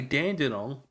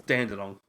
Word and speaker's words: Dandenong: You want to say Launceston, but it's Launceston, and you want to say Dandenong, but it's piss off. Who testing them? But it's piss off. Because it's Dandenong.